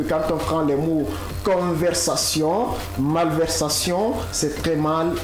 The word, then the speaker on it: conversation: Donc ne dit pas par exemple conversation, ce n'est pas Z, c'est plutôt ça.